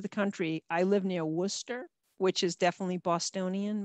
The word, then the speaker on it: Worcester: country i live near worcester which is definitely bostonian most people would call it worchester and that's really kind of how it should be pronounced but it's not um and so that's